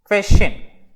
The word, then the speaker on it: question: கொஸ்டின். இதை start பண்ணுறப்போ வ அப்படின்ற சவுண்டோடு வரணும். கொஸ்டின்.